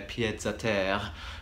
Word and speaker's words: pieds-à-terre: just one of their pieds-à-terre. Pied-à-terre, I suppose you wouldn't pronounce the S in French, but I wanted to make sure you knew I was doing the plural.